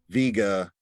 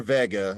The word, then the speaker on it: Vega: That it's nice, you know, but and I purposely sat in a location where Vega or Vega, as it's pronounced, sat right here, and with haze showing up in this night sky, and this is the Cygnus Rift.